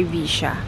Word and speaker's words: Villa: This is called the Complejo Punta Villa, or Villa, that's how they pronounce it here.